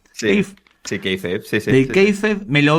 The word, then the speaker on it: kayfabe: Yo, cuando preparamos el episodio de Wrestling for Dummies, yo conocí ese canal y toda su playlist del Kayfabe, ¿cómo se pronuncia? Sí, Kayfabe, sí.